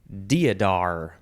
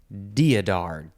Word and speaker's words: deodar: a new position okay the next word is diadar deodar d-e-o-d-a-r also diadara that's another way to say it this is a noun